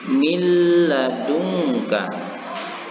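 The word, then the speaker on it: مِن لَدُنكَ: membacanya pada kalimat ini Nun matinya atau Nun yang berbaris hukumnya sudah masuk kepada huruf lam dan membaca huruf lam ini seolah-olah bertasydid bersama-sama kita baca milladunka sekali lagi milladunka Hai anda sekalian sahabat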